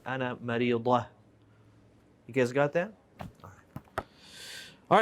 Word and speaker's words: مريضة: أنا مريضة. مريضة. And she'll probably stop and won't pronounce the ta and say أنا مريضة.